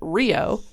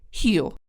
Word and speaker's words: Rio: Like, or Rio is spelled Rio, so you'd pronounce it Rio, but it's pronounced Rio. Unless you speak Portuguese, you're not going to say, oh yeah, that's an H.